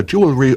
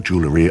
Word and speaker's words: jewellery: Pronounced either jewelry or jewellery according to taste.